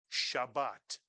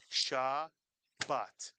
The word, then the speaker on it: Shabbat: on the screen, Alex, Shabbat. It has two syllables and each syllable has the same beat to it. Shabbat. And we simply accent one of the syllables.